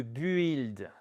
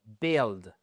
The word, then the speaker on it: build: Vous ne prononcez pas le U. Ce n'est pas le building, c'est building, build.